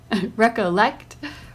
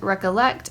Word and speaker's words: recollect: colony, botany, remember, important, recollect, represent. In the words colony and botany, the first syllable is accented. In the words remember and important, the second syllable is accented. In the words recollect and represent, the third syllable is accented.